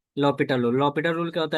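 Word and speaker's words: L'Hôpital: तो हम यूज करते हैं लॉस्पिटल रूल, नाम सुनी हो कभी? नो। No problem. L is silent, sorry H is silent, तो क्या बोलते हैं? लॉपिटल rule. अंडरस्टूड? यस। ये फ्रेंच वर्ड है।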